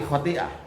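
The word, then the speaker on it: خطيئة: Tapi bacanya di waqaf fi kulli khati'ah.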